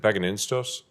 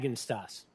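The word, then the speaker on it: Bagenstos: Is it Bagininstos? Pronounce it for me so I get it right. Bagenstas.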